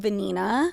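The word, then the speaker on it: Vanina: actually a fun fact my middle name is venina which is a very Spanish name okay and it's spelled v a n i n a and I'm like a rhymes with venina right and then my last name was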